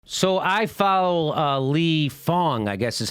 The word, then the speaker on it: Fang: with a a Fang but it's pronounced Fong I've been told that's what people have told me anyway he tweeted this out